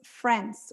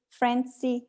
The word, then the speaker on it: friends: that to frenzy but the way you have to say it's friends we have a final e here and only one syllable gracia greece two syllables